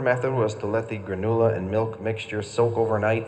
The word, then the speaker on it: granula: If you take a closer look at the granula can, you may notice there's always a line over the letter U in granula to serve as a useful pronunciation guide.